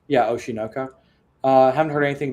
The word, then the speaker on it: Oshi no Ko: what do you say oh shunoko yeah oshinoka uh I haven't heard anything about you say it together it doesn't sound the same that's why you're saying it wrong that's how Alex would